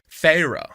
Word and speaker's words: Feyre: And the name that you're looking to pronounce is Feyre. Feyre.